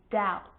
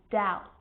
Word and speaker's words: doubt: examples subtle death and doubt so see in all of those examples my lips aren't closing and coming together to form the b sound i'm just pronouncing the t subtle debt and doubt now the letter c